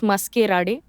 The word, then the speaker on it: Maskerade: The spelling is different. It's as I speak, it's Maskerade.